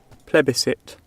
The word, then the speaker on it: plebiscite: Plebiscite.